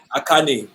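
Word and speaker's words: Achane: Where your sorry, Devon, for this African saying your name wrong. It's Achan. Sorry. Akane.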